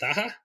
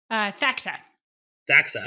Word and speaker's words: Thaxa: So, you know, you we never really talked about this, but your company is called, how do you pronounce it? Thaha? Thaxa. Thaxa.